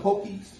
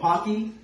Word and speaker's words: Pocky: I'm also trying it, and it just reminded me of Pokies. Like comments, it's these little Japanese cookie biscuits. Oh, Pocky?